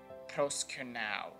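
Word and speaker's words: προσκυνέω: Well, as you can see here, it is pronounced proskunao, or maybe this guy can do it better. Proskunao.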